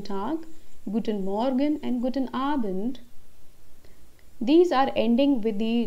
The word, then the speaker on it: Abend: our band guten abend here again the pronunciation of ah and not a it's not a bent it's abend guten abend the next word we